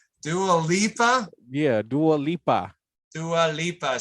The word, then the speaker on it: Dua Lipa: Was this the Delupa Dialupa? Why can't I never pronounce her name right? Dua Lipa.